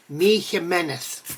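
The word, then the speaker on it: Jiménez: know michael meneth mick jimenez mig jiminez whatever you want to call him the correct pronunciation according to a spanish friend is me meneth so that is how you say mig's name so long story to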